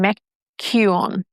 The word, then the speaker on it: McKeown: I think I butchered his last name. McKeown.